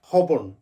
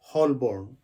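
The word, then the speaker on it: Holborn: বাট সঠিক হবে Tottenham লন্ডনের একটা পরিচিত জায়গা হচ্ছে হবন কিন্তু আমরা সবাই ভুল উচ্চারণ করি আমরা বলি হলবর্ন নো এটা হবে হবন এর উচ্চারণটা হবে না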